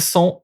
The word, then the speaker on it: sont: So, sont, you pronounce that. Sont. You don't pronounce the T, but sont.